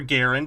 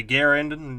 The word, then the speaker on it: Garand: let's get him an M1 grand as you do or Garand however you pronounce it some people say Grand I say I say Grand some people say Garen It's usually the English speakers if you know I mean